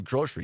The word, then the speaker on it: grocery: I say I'm going grocery shopping and I know that's not there's no sh in it it's g r o